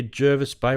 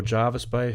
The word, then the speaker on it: Jervis Bay: um near Jervis Bay or Jarvis Bay, however you want to pronounce it, which is basically Nara, which is south, south of Sydney, heading down the coast.